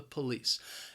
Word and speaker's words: police: laws the police now the word has two syllables the stress is on that second syllable that first syllable you hear that schwa that pup-pup but that second syllable that's spelling that Li si E is pronounced lys police police maybe I hope